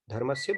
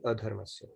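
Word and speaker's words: अधर्मस्य: It's actually a sandhi word with Sanskrit that is seeming like dharmasya, but it's actually adharmasya. So when we pronounce it, we should always say abhyuthanam adharmasya. Very true.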